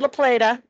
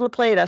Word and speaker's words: La Plata: I've heard it pronounced both ways, but I go with La Plata.